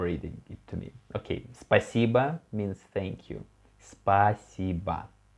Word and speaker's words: Спасибо: Okay, спасибо means thank you. Спасибо. We can see also here O without stress. So we pronounce it like A, yes.